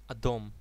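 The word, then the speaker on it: אדום: I think they cannot pronounce that sound, can they? The second color is red, and its Hebrew name is Adom.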